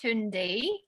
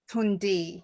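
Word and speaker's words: Tünde: saw your name there i'm sure no um tunde is that how you pronounce your name taunt is it tuned i'm i'm sure i saw you there hi yeah no it's actually pronounced tundi tundi yeah it's a hungarian thank you yeah that's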